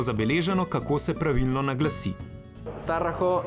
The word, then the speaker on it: Tarraco: Tarraco is the right pronunciation.